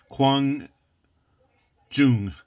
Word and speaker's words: Quang Trung: the banner in Chinese, Quang Jung. And I'm using the Korean pronunciation of the Chinese characters. I believe they pronounce it Quang Trung in Vietnam.